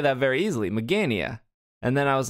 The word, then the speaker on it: Magearna: And I was explaining to Will because I saw Mage, Mage, and I didn't see Gear.